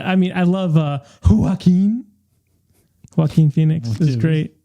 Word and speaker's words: Joaquin: for Ridley skies I mean it's just a Joaquin Phoenix looks great that's how you say his